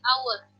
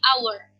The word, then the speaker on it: hour: dengan huruf H, tetapi ketika dipronunciation-kan dia H-nya hilang jadi our. Huruf H-nya tidak dipronounce tetapi langsung kepada O, jadi our.